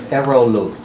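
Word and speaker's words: Eroğlu: For example, our tour guide, his last name is Erolu. That's the soft G. Yeah. E-R-O-L-U. O-G-L-U. O-G, soft G-L-U. Yeah, it's totally silent.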